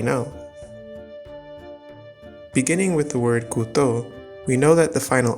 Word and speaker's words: couteau: get the singular form 'couteau'. (it's funny because it's pronounced the same with or without the final -x) Next, there’s the -eau